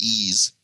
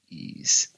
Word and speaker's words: Ys: yeah I'm serious it's it's pronounced ease ease it's it uses the French pronunciation I see well pardon